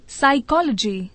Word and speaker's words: psychology: PSYCHOLOGY साइकोलॉजी।